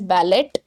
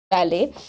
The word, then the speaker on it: ballet: of a dance and we do not call it as ballot it is uh pronounced it should be pronounced as ballet ballet Linda had been learning ballet for two years now